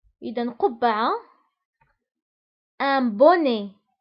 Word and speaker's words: bonnet: un bonnet. فبالنسبة للبوني تكتب ب2 n يعني 2 من n. un bonnet. وأيضا تكتب بالتي في الآخر ولكن لا ننطقها.